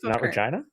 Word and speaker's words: Regina: the best five Vancouver come on man Vancouver Regina Regina not a bad vibe though I mean